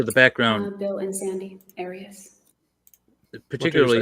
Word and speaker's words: Arias: I say Arias, as does the rest of my family.